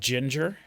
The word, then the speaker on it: Jinjer: is a band that's called Ginger and it's spelled j i n j e r I think Ginger which is not how you spell ginger like the spice you know Ginger is with a G but this is Ginger